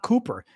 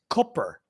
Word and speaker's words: Cooper: name wrong it's not Cooper it's Cooper it's it's the double O in his last name is pronounced like the double O in foot so we say foot